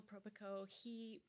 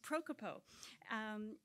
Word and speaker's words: Propikov: Propikov. I even said it wrong. It's one of those many voweled names. Propikov.